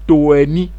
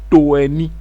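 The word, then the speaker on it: tôeni: En langue Wobé, on dit toeni. Alors, je rappelle que le O avec accent circonflexe, pour le prononcer correctement, c'est un O fermé, donc comme dans hôpital. Donc, c'est toeni.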